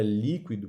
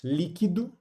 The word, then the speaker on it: líquido: Só que o que vai acontecer justamente com a palavra líquido, pessoal, e seus derivados, essa palavra ela vai ter duas pronúncias. Para uns líquido, para outros líquido, para uns liquidificador, para outros liquidificador.